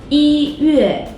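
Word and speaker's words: 一月: But if 一 is used as an ordinal number, its tone doesn't change, no matter what tone the following syllable is. For example, 一月, 一月.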